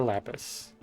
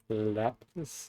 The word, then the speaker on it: lapis: Although it is pronounced lapis, not lapis.